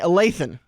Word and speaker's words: Lathen: I even have it written down phonetically, so I say Lathen, but it's still Latham to me.